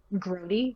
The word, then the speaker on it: Grody: Just spelled like Adrian with a, Grody, like as in that's Grody, you know.